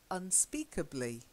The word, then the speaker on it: unspeakably: So we've got unspeakably. Unspeakably, Yeah. Unspeakable. Unspeakably. Unspeakably. That's it. Unspeakably. Okay. It's just another little syllable at the end of the word.